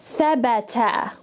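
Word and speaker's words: ثبت: And I'm going to pronounce it as thabata. So each one of these letters is actually taking on a short sound. Tha, ba, ta. Thabata.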